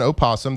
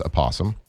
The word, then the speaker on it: opossum: The tripod had no idea that it's uh spelled with an O. Uh, it's an opasum. The North American opossum. Um, but most people know it as aum.